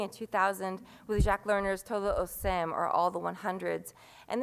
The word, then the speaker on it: Todos os cem: also very significant because Todo o Sem, all of the 100s phonetically sounds like todo o sem, all those without in Portuguese.